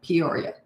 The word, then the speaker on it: Peoria: Hi, Tennessee, Jennifer, until Peoria Heights, Illinois, Peoria. Has to be pronounced that way.